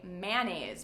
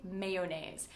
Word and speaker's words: mayonnaise: I used to always say mayonnaise, but it's actually mayonnaise. And actually many native speakers say mayonnaise or mayo, but the correct pronunciation is mayonnaise.